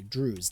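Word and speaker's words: Druze: How do you pronounce Drews? Let's see. Oh, it is. I was saying it correctly. Drews. D R O. Yeah, I thought like saying choose.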